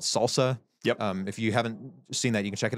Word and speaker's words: SLSA: It's SLSA. We say it Salsa, we spell it SLSA.